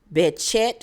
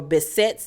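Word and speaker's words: Behçet: um sonya actually has i think it's pronounced betchette or bessette's disease and she was diagnosed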